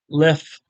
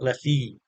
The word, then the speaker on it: Leffe: beer please try it left left that's how it's pronounced Le not Ley a lot of pron